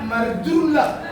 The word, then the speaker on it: marjulak: Tapi yang benar, air kalau menyembur dia, bahasa Bataknya marjulak, pakai R.